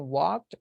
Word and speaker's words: walked: So let's be careful the pronunciation of this one. Let's exaggerate. Exageremos el sonido. He hasn't walked. Walked. He hasn't walked. Que no puede ir Walker, teacher. No.